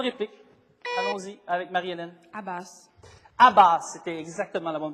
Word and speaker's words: Abbas: Abbas, c'était exactement la bonne prononciation, succédant Yasser Arafat, donc une pénalité également pour Collège Saint-Charles-Garnier.